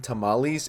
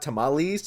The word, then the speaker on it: tamales: It's not tamales. It's tamales. So you. Learn how to say If you're going to critique someone else for getting the name wrong, it's not tamali.